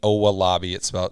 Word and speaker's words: Owolabi: And it's Dan Owolabi. Sounds just like it's spelled O-W-A, I believe.